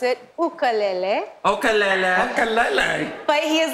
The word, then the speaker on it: ukulele: ni I am from Hawaii and you actually pronounce it ukalele okele okele but he is listening to me